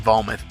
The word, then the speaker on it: Vometh: It's pronounced Vometh.